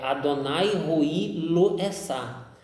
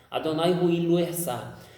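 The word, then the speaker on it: אֲדֹנָי רֹעִי לֹא אֶחְסָר: Então a pronúncia correta no hebraico que não existe a palavra nada, é Adonai Roi Lo Esá. Adonai Roi Lo Esá.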